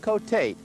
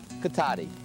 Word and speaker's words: Cotati: when passengers got off, they called it Cotate. That's because the town was spelled with an E. But that so infuriated some city fathers, they decided to change the spelling to end in I, so they would pronounce it Cotati.